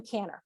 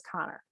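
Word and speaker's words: Kanner: the connor article and i kept calling him canner for the longest time i called him tanner i found out his real name's connor spelled the same way but it is connor and so he published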